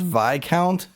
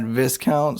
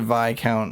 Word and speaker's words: Viscount: I found out that the ward is actually pronounced Vai count not Viscount so little egg on my face there but uh if you go talking anyone else just pronounce it via count and you'll be alright no one will make